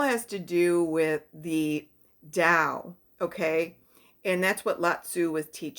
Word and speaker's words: Dao: to do with the Dao okay and that's what latu was teaching was the da and da is spelled t t AO so it's kind of different pronunciation but it's a way